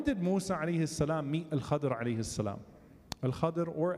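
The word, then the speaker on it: الخضر: When did Musa alayhi salam meet Al-Khadr alayhi salam? Al-Khadr or Al-Khidr, more commonly actually pronounced Al-Khadr in Ahadith.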